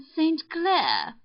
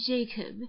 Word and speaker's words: St. Clair: Donnell, accent on the last syllable, and St. Clair, on no account Jacob, you remember?